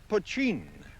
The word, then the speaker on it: poteen: Mountain Dew is another name for the stuff that's spelt poteen and pronounced pochine.